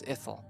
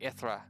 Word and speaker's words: Ithra: Yeah, I know you saw it in the message, but his name is Ithel. Or sorry, Ithra. That's what it is, Ithra. Ithra. That's how it's pronounced. Sorry, I said that wrong.